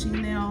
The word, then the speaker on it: Shánelle: I accent over my A, so it's pronounced Chanel, but that's a story time for another time.